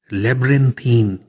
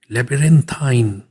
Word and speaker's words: labyrinthine: हमारा आज का वर्ड लेब्रिंथीन। लेब्रिंथीन, इसकी एक और प्रोनाउंसिएशन लेबिरिंथाइन।